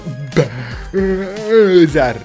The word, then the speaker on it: Bowser: Si pronuncia Bowser.